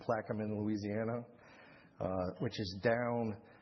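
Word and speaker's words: Plaquemines: This is a liqufied natural gas plant that was installed in Plaamin. That's the way you pronounce that word. Plaeamin, Louisiana.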